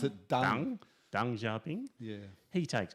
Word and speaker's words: Deng: At some point, Mao gets past it, and you say Deng Xiaoping? Well, I pronounce it Deng.